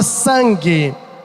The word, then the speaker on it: sangue: Esse N não é pronunciado. Pois prova, professor, prova. Pronuncia para mim a palavra nada. Nada. Pronuncia. Nada. Pronuncia só o primeiro som dessa palavra. Na não. Na é N-A. Pronuncia só o primeiro som. Ne. Diga ne. Ne. Esse é o som do N, ó. Ne. E esse som não está na palavra sangue.